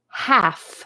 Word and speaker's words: half: The L is silent. Half. You only hear the f, f, f.